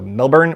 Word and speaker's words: Melbourne: Okay, I'm going to pronounce the R. Because I think that's a little more accent appropriate for me. So Melbourne, but I'll go light on the R so that it's at